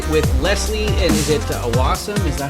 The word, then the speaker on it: Awasom: I'm joined today with lesie and is it aasum is that how you pronounce it you got it D it's lesie aasam that's correct awam sweet and I got some